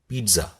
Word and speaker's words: pizza: अब देखिए बहुत लोग इसको पिज़्ज़ा बोल देते हैं, पिज़्ज़ा, क्योंकि इसकी स्पेलिंग ऐसी है, लेकिन इसका सही उच्चारण क्या है? पिज़्ज़ा।